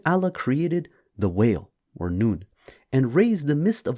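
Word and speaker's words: نون: And in Arabic, the letter N, when sounded out, is pronounced Nun.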